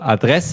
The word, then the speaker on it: Adresse: pay attention to is the intonation of the word address so in English it's like address of in German it is AD ad yes we kind of uh focus on the second syllable address address yes perfect all